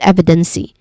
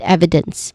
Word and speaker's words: evidence: So here there's a silent letter e in evidence because we do not say it as evidency but evidence.